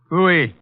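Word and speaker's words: Pfui: Phooey. What's that? Phooey. It can be spelled in several ways. I spell it P-F-U-I.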